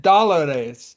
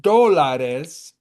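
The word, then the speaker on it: dólares: So when you miss that do you said that that with an accent dollar. Can you see how that's an a d a but the word is pronounced it's d o doares do.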